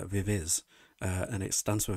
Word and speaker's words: VIVIZ: comment going you know you're saying the group's name wrong and it's like na nabra I'm not it's vivis uh and it stands